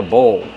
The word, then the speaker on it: bowl: It's called a bowl. How do we pronounce bowl? Bowl. Use the long O like no and go plus the dark L.